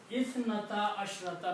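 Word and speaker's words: اثنتا عشرة: The words are isnata ashrata. Isnata ashrata aynan. Fine. Thank you. Ithnata ashrata aynan, and if you stop it, you say ayna.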